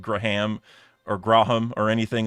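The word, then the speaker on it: Gram: But uh in the US you you would just say graham like a graham cracker.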